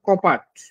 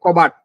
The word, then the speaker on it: কপাট: আমি আরেকটা ব্যঞ্জন নিচ্ছি যেমন ধরেন কপাট কপাটকে আমি বলছি কি সরি কপাট থেকে হয়ে গেল কবাট উচ্চারণ করতে না পারার কারণে আমি কপাটকে বললাম কবাট এটা হচ্ছে ব্যঞ্জন বিকৃত আর ধ্বনি বিপর্যয় একটা